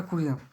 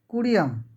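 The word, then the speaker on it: Curie: কি তাহলে সিএম এটা হচ্ছে মইলু এটা কুরিয়াম বানানটা কুড়িয়া তাহলে এটা বিজ্ঞানী মাদাম কুঁড়ি বিজ্ঞানীটার নাম হচ্ছে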